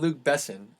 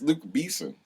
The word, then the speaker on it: Luc Besson: I'm pretty sure his name is not Luke Besson. I'm pretty sure it's Luke Besson. It's Luke Beeson.